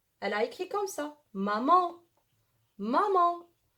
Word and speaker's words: maman: Maman, maman. Ma, on a étudié pardon, A-N, elle se prononce en, d'accord?